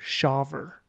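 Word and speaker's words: Smith-Shawver: on your pronunciation Michael it's s-a-s-h-a-w-v-e-r shover yeah Smith shaver Smith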